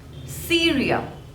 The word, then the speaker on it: Syria: lent Scotland Scotland Scotland Syria Syria there are two labels see real and the stress is on the first one cereal Syria Syria next is